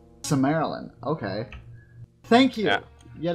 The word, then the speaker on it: Silmarillion: Oh, there's Similarian. Oh. Yes. Okay, I'm gonna pronounce that right for you, Silmarillion. Silmarillion.